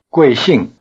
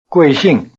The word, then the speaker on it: 贵姓: is by using the respectful word for surname, 贵姓。 literally precious surname. Both syllables have the falling tone. Try repeating it. 贵姓。